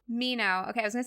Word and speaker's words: Mineau: last name tell me how to say it Mino Mino okay I was going to say Manu But